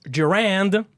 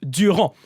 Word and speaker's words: Durand: It's not Durand, it's Durand. So like they keep pronouncing the T at the end. You don't pronounce the T at the end in French.